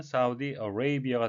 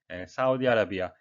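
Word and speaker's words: Saudi Arabia: 산유국인데요 발음에 의해서 되겠습니다 강세가 없는 a는 어 발음이 나고요 가운데 강세가 있는 a는 a로 해서 이중모음이 되겠습니다 우리말로 구직 표현을 해본다면 사우디 레이비아가 되겠구요 우리말식 표현은 사우디아라비아 영어로는 두 단어로 되어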